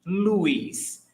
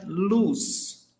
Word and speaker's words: luz: And pay attention to pronunciation. Luis. Myself, where I am from, we pronounce Luis. In other regions of Brazil, you will hear luz, luz. So both ways are correct.